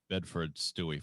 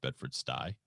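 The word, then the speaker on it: Bedford-Stuy: you told me not so it called it bedford stewie first of all you can hear now that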